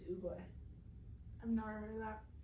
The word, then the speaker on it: Oogway: Yes, it's Oogway.